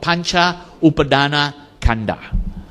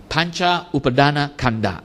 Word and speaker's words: Pañcupādānakkhandhā: That's why it's called Pañcupādānakkhandhā. Pañcupādānakkhandhā. Now, I'm not going to pronounce this word, but when they put it all as one word, they remove the A after the Pancha.